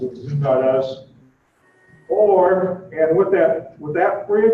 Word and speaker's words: Zoom.us: You can get a personal account by going to that's the way the company pronounces it, Zoom.us.